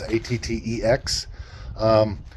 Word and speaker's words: ATTEX: This particular one here is an ATTEX or ATTEX, however you pronounce it. It's ATTEX.